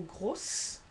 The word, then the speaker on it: grosse: Second case was in between two vowels, and here you have rose, so Z, or grosse, S, désert, dessert.